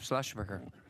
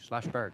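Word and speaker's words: Schlossberg: you thank you rep slashburger thank you chairman I said your name wrong slash Bird that's it all right if I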